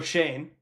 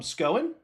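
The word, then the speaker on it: Schoen: And if I am Joe Shane, which I just learned that's how you pronounce his name.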